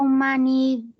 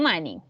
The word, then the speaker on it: many: How many bananas are there? Ya, pero acuérdate cómo vamos a pronunciar esta palabra. ¿Cómo se pronuncia? Many. Exactly, no money.